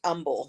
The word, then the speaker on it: Humble: have one that's spelled we have one that's spelled humble but it's pronounced Umble so we've got a